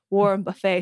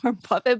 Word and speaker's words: Warren Buffett: funny because I think he would always say Warren Buffet. So like as Yeah, a that's how it's kid, spelled. I Yeah, got it's spelled so buffet, yeah, so I kept so in my head I kept thinking Warren Buffet, Warren Buffet, Warren Buffet. But like now I know it's Warren Buffett, but I keep Yeah.